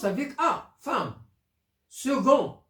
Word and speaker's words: second: prononce avec a femme second ça s'écrit avec C mais se prononce gu 6 x se prononce